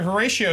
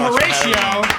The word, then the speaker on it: Horatio: Horatio Sans wow team Horatio Horatio pod Show podcast I say it right yeah you said it perfectly okay cuz it spelled kind of like huray it's ratio Hur ratio it's ratio show yeah see okay I